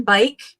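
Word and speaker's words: Beich: And it even tells you on the lid, say bike, because that's how you pronounce the last name.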